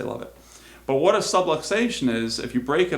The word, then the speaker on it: subluxation: So, what is a subluxation? Okay, it rhymes with subway station.